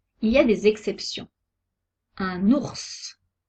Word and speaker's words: ours: ya des exceptions un ours on prononce le s final une lettre mu est